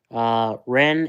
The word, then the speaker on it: Ren: Ren is insane. Ren is pronounced.